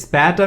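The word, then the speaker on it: später: this is better best spatter means still later so this also sounds like or let's say rhymes with later it's a bit spatter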